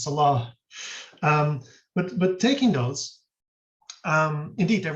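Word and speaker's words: صلاة: So taking this example of these words like we very often say salat these days with the final T, but the proper classical Arabic pronunciation is salah.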